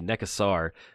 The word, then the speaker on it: Nekusar: pronunciation of mecha sword the correct way should be neck asar our neck u s-- are that would probably be correct but i don't